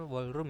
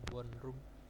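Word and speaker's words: 원룸: ada W wallro nah ini bacanya wallroom Ya bukan W room Nah itu adalah volume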